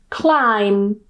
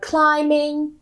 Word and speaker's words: climb: it's in the middle, the B at the end is silent and we just pronounce the M. So, we just pronounce m and that's it. For example, bomb, climb. And of course, this applies to words like climbing. Climber. We still don't pronounce the B. Climb. Climbing. Climbed. The B still silent.